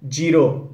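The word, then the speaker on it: Giro: Most of us pronounce it एज जायरो, बट इसकी actual pronunciation है जीरो। जीरा डालते हैं ना, जीरो।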